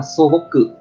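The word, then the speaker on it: 素朴: Cách đọc của nó là sô bốc cự, sô bốc cự.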